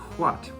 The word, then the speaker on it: hwæt: The word what in English used to be pronounced what, starting with a voiceless velar fricative.